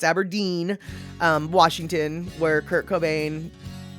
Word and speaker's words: Aberdeen: through aberdeen washington so it's not aberdone it's aberdeen um washington where kurt